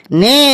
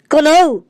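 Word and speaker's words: know: কে এন ও ডব্লিউ কোন স্যার এটা কোন লেখা আছে হ্যাঁ স্যার একদম ঠিক স্যার এটা কোনই হবে স্যার ওটা লেখা আছে কে এন ও ডব্লিউ নো এখানে কে এর উচ্চারণটা মুখে হবে না একদম ঠিক বলেছি শাবলু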